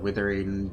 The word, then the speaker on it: Wuthering: __ ] know um everyone pronounces withering wave but it's not w t so I don't know where that's coming from I always pronounce it wethering w just cuz I thought it was W T at first but it just kind of stuck anyways that aside I'll